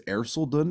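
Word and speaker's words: Erceldoune: uh Thomas of air I think it's airsel Dunn is that's how it's pronounced yeah so done yes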